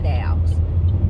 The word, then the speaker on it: doll: she messed with my dowels. If you from Chicago, you know what I just said. My accent sometimes. So I said doll, but I don't normally say it like that.